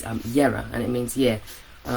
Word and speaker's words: Jera: It looks like Jera, but it's Yera, and it means year.